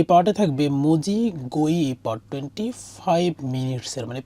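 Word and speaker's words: 水: তো এই কাঞ্জিটার ক্ষেত্রে যদি আমরা জানি, যেমন এই পার্টটা হচ্ছে বেসিক্যালি মিজু মানে পানির মানে কাঞ্জি পানি। তো এটার একটা উচ্চারণ হচ্ছে মিজু সরাসরি, যার অর্থ হচ্ছে পানি। আর আরেকটা উচ্চারণ আছে সুই, যার অর্থ হচ্ছে সুই ইও বি, অর্থাৎ বুধবারের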